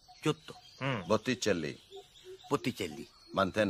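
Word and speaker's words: Botticelli: গায়েট্টো, বটিসেল্লি।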